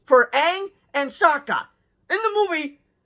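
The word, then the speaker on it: Aang: for the love of God it is not pronounced Ang it's pronounced Ang like I swear to God I thought I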